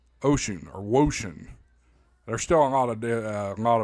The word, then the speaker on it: Wouxun: This some people pronounce this differently. Here locally, we've called this walks on. Um, however, I've been corrected several times and been uh been told that this is ocean or there's still a